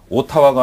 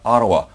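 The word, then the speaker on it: Ottawa: 그런 표현들 그리고 고유명사 조금 전에 우리가 봤지만 오타와가 아니라 아라와 토론토가 아니라 토론토 맥도날드가 아니라 맥도날드 이런 고유명사까지도 잡아두셔야 됩니다.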